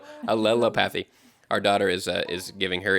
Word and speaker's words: allelopathy: No, I just thought it sounded like lily pad. A lily-pathy? No, Allelopathy.